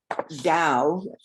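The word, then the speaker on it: Tao: you and even though the word da ta a o is pronounced Dao Dao it it has this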